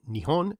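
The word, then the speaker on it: Nihon: during the tang dynasty Japanese scholars of Chinese adopted the name with the Japanese pronunciations of the kanji characters also borrowed from China which after a series of sound changes became neon and neap on both pronunciations use today this is what lies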